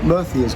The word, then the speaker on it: Murcia: If you're not worried about going to the coastal parts of Spain, Murcia's got some lovely places. I mean, that's spelled or pronounced for yeah, us, M-U-R-C-I-A.